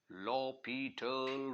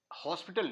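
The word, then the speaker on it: L'Hôpital: apply लॉ पिटल rule लॉ पीटल rule इसके spelling हॉस्पिटल वाले हैं लेकिन हॉस्पिटल नहीं पढ़ना इसको लॉ पिटल रूल पढ़ेंगे लॉ पिटल रूल ये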